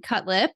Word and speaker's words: Cutlip: okay my name's cutlip uh that's a married name and it's injury to the lip is how you pronounce it and so I am